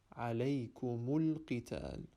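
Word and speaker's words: عليكم القتال: lam which is sakin, we get rid of the first sukoon by applying a harakah. In this case, we apply a dhamma because it is mimul jam' and it is pronounced alaykumul qital.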